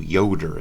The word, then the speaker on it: Yoder: district okay wisconsin versus yoder that was 1972 yoder is how you say that amish students in